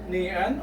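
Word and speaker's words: 니은: Okay, so let's combine niun or N, combine that with a.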